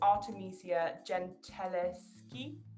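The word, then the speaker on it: Artemisia Gentileschi: the early 1600s artemisia i'm really bad at pronouncing her name but it's artemisia gentileski she was an italian painter um but yeah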